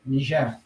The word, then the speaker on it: Niger: That's how it's said that's how they pronounce it in French, Niger.